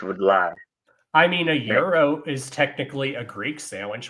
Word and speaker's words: gyro: that will pronounce it gyro and I was like do not call it that they're like why I'm like because I'm Greek it's pronounced Euro the g is silent now G now some